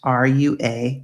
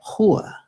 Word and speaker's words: rua: But a word like would be spoken in English, R-U-A, rua, which would be street, but they don't pronounce it like that. The R is actually an H sound.